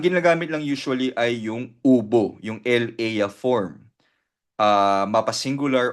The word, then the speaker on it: hubo: So very useful ubo ubo muchas personas and la reunion maraming tao ang dumalo sa meeting again ubo hindi siya hubo silent h ubo ubo unidente and lakay